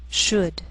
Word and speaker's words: should: Sometimes L can be silent, so you have to be careful.